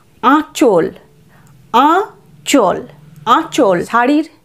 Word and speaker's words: আঁচল: পরের শব্দ আ চন্দ্রবিন্দু চ ল, আঁচল। আঁচল, আঁচল। শাড়ির যে প্রথম অংশটা থাকে সেটাকে আমরা বলি আঁচল, মায়ের আঁচল, তাই না? আঁচল। তারপর চল, আয়ের উচ্চারণ এখানে নাসিক্য, আঁচল নয় কিন্তু, আঁচল।